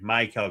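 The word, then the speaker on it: Maikel: Sorry, my Kel Garcia. I need to I'm trying to say his name correctly now that he's told us that you emphasize the my and not the Kell.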